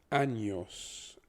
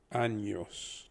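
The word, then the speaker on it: años: is pronounced really as once it has the tilde or the squiggly line above it it doesn't become an n it becomes an en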